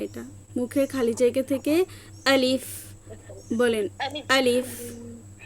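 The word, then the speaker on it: ألف: থেকে উচ্চারিত হয় এটা মুখের খালি জায়গা থেকে আলিফ বলেন আলিফ আলিফ আলিফ আলিফ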